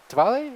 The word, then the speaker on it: Diwali: away uh we have a withdrawal a Diwali Diwali is that how you pronounce it yes okay from over there employment